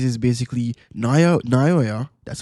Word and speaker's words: Naoya: Basically what he says is basically Naoya, that's how you pronounce his name.